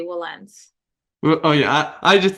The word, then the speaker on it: Wilentz: will okay I mean some people pronounce it like that will but you know I think for the most attorneys here we just say Wellens well oh yeah I